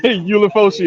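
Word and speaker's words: Ulofoshio: You know how to pronounce his name. Go ahead. Ulifosio.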